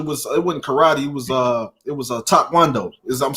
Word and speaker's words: taekwondo: It was taekwondo. I'm saying it right? Taekwondo.